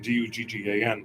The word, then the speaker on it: Duggan: Her name was Duggan, Duggan, but people in America say Dugan.